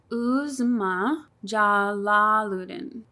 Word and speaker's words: Uzma Jalaluddin: Okay, so her name is pronounced Uzma Jalaluddin.